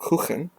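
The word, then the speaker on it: Kukan: this year but we'll see third pair Dean kukin or Ken I believe it's how you actually pronounce it because it Swiss so it's going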